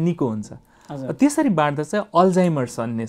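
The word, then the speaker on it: Alzheimer's: र मान्छेहरू अहिले पनि यसलाई उच्चारण गर्दा अल्जाइमर्स भन्न नजानेर अल्जेरमर भन्ने पनि अवस्था छ।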